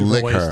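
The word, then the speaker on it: Laika: It also had is it Leica? Leica? How do you pronounce that, Wombat? You probably know this. The Studio Leica? Leica? Yes. Mm-hmm. You pronounce it Liquor, I believe.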